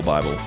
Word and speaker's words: Bible: It's not pronounced Bibble. I'm a sage in the Bibble. Like I know everything about Bibble Bible.